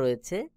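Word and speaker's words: ر: জিহ্বার agar পিঠ তার বরাবর উপরে তালুর সঙ্গে লাগাইয়া র উচ্চারণ হবে।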